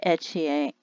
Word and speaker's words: Ethier: looking in today and they said her name was pronounced melanie nadia etchier and that she was